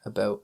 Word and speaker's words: about: Yeah, so go ahead and listen to an American say that word, and you'll probably notice a difference. Yeah. And just repeat how the Canadians say that.